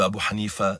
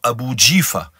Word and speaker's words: Abu Hanifa: Sachez que ces gens-là altèrent exprès et déforment exprès la prononciation du nom de Abu Hanifa en disant Abu Jifa, qui signifie cadavre, tellement il aimait hors d'eux.